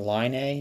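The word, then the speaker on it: Laine: did you pronounce it the line a line a Patrick line a from the Jets I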